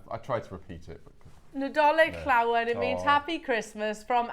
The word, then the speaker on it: Nadolig Llawen: Nadolig Llawen. I'm glad you pronounced that. There you go. Alison said it on the show yesterday and I tried to repeat it. Nadolig Llawen.